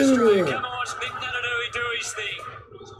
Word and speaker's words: Naitanui: NAITANUI, okay, that's how you pronounce his name.